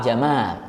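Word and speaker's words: جمال: Makanya ada orang namanya Jamal, Pak Jamal. Pak Jamal. Itu seharusnya bacanya panjang. Jadi kalau Jamal. nah, seharusnya seperti itu.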